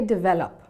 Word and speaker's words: develop: When saying the word develop, make sure you don't stress on the E. So instead of saying develop, say develop.